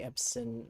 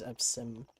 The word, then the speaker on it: Epsom: I was going to say Epson versus Epsom, but an N on it. Have an M.